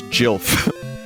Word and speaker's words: Gil: at edge of P Chad it's actually not Gil it's Jil just want you to be aware of that